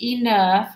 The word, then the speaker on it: enough: Here's enough. It rhymes with tough.